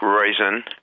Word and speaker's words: Roizen: My name is Mike Roizen. Rhymes with poison, but I'm really not.